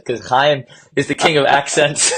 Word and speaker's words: Chaim: Now, and so your neighbor has to feel it on their face. Chaim. Okay. Then you know you're saying it right.